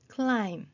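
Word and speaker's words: climb: B가 소리 안 나는 경우도 있습니다. 램 clim 했을 때 램브 클라임브 이게 아니고 클라임 해서 B가 다 소리가 나지 않았습니다.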